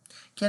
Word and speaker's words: quel: And yeah, so you'll see quel, Q-U-E-L, and you'll see quel. Quel. There's no difference in pronunciation.